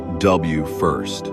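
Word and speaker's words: WFIRST: WF I s pronounced W first.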